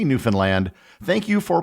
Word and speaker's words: Newfoundland: The key was the simple rhyme, understand Newfoundland. It is not pronounced as it would be in the rhyme, unfund Newfoundland.